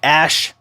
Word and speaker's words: Asch: to talk about something called the ash conformity experiment ash is spelled asch the ash conformity experiments